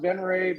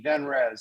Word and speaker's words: Venrez: to dude it's all you absolutely it's it's pronounced benray but you know it can also be benrez so what you want to do is go